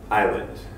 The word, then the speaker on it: island: is kind of tricky we have many words with silent letters such as comfortable Island knife no our and I now the only way to learn how to